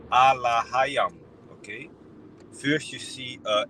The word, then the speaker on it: Elohim: Then it says Allahayam, you know, with the right pronunciation, which is plural, which means gods, angels.